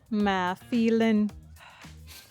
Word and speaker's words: Mã Pí Lèng: To pronounce that is Ma Phi-Linh. And that over there is Ma Phi-Linh.